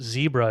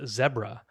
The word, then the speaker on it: zebra: She was from South Africa, and then she told me that it's not pronounced zebra, it's pronounced zebra.